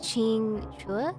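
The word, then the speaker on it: Qingque: show is pretty kinky I believe that the queue is actually a cha sound so Ching Chua oh yeah you're right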